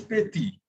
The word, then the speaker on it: petit: The letter T is pronounced at the end of a word, it is not pronounced. So it is petit.